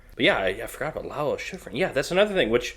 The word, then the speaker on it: Lalo Schifrin: after and it's uh Schiff How do you pronounce his name? Lalo Schifrin, yeah.